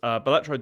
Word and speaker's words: Balatro: Is that how you spell it? Balatro, yeah. That's how I'm Balatro, saying it.